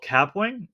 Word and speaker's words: Kapwing: There's a tool that you can check out called Capwing. It's spelled Kapwing.